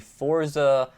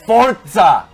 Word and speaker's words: Forza: It's Forza, not Forza. Forza. Just like pizza. Pizza sounds like it's got a T in it.